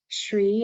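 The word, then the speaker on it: Shree: I'm from Boulder Colorado I like to go by SRI it's spelled s-h-r-e-e it's another name for mahalakshmi and a friend of mine um started calling me this a few years ago and it kind of stuck as my nickname in 2015 I retired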